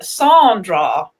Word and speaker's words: Sandra: Sandra has come back and said that most people pronounce her name Sandra.